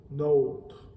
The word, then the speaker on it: nôtre: qui me demandent souvent est-ce que l'accent circonflexe sur la lettre O influence la prononciation dans ce mot-là oui dans notre région on a une prononciation qui fait la différence entre le déterminant neutre et le pronom possessif notre donc ici je vais vous le prononcer pour le déterminant notre notre et le pronom possessif note notre notre donc qu'est-ce